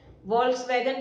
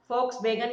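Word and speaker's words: Volkswagen: वोल्क्सवैगन के लिए लोग शुरुआत के शब्दों में इस कार ब्रांड का उच्चारण कर देते हैं, लेकिन सही मायने में इसे हम फोक्सवैगन के नाम से जानते हैं।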